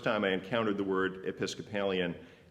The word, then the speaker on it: Episcopalian: I didn't know any Episcopalians back then, and in fact, the first time I encountered the word Episcopalian, I mispronounced it. Episcolopian, I said.